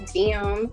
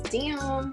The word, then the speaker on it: DEIYUM: So my Instagram is pronounced Dium, but it's spelled DEIYUM. Yeah, y'all could find everything else from the page, respectfully. So, yeah, hit that follow button. It's Dium.